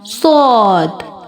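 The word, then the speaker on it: ص: Let me show you the origin of sod. Sod pronounced as tip of the tongue comes between the front top and bottom teeth.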